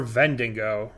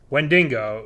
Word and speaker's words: Wendigo: Wendigo? Or Vendingo? Wendigo, yeah. Correct.